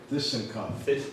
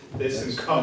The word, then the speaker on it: ThyssenKrupp: ThyssenKrupp. ThyssenKrupp.